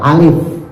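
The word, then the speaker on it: ألف: Alif itu pakai fa loh. Alif.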